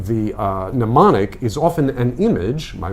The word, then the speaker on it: mnemonic: Yeah, very similar, although the M is pronounced in anemone, but it sounds like mnemonic.